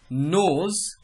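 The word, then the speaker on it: knows: हिंदी जानता है रमेश नोज हिंदी अब ध्यान रखिएगा के के बाद जहां भी एन आता है तो वहां पे के साइलेंट हो जाता है उसको नोज पढ़ते हैं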